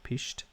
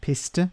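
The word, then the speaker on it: pished: It's like in Ireland we say pisht. Not piste, but pisht.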